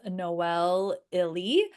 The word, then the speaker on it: Noelle Ihli: And the author's name is Noel Illy.